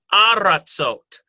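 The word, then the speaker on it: ארצות: Oh, it changes to aratzot. Ah sound instead of eh.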